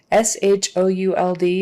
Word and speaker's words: should: S-H-O-U-L-D is pronounced with that same kind of vowel sound as in good, book.